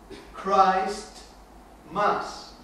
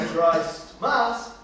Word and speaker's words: Christmas: Christ Mass. Que hoy no se pronuncia Christ Mass, se pronuncia Christmas.